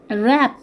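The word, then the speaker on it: wrap: রং রঙ এ ডাবলিউ কিন্তু silent র্যাপ র্যাপ এখানেও কি ডবলিউ সাইলেন্ট তো এগুলো তো আমরা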